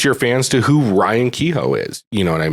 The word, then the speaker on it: Kehoe: front of me, but it's like an H but like pronounced yo, so Kehoe.